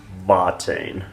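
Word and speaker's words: Watain: is another band now their name begins with a w but they're from germany originally and that's why they're pronounced vatine anyhow there was an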